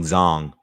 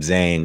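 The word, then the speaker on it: Zhang: knight is they're saying zong so i've been saying it wrong i guess been calling him zang all night my apologies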